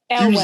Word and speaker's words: Elwes: up the Cary Elwes, if that's how you pronounce it, who played Wesley. Elwes.